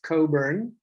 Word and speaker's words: Cockburn: hello everybody uh and my name is pronounced coburn as though the ck were not there uh it's a scottish